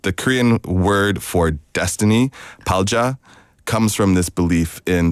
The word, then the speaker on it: 팔자: Korean word for destiny, palja, comes from this belief in saju. 팔자. Yeah, no, my pronunciation is No, bad. because it's written, it's 팔자. Yeah. But then the way we say it's 팔자라고 하잖아요.